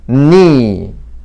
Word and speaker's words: knee: 그래서 knee. 이거는 묵음 규칙인데 여기하고 똑같이 K가 묵음입니다.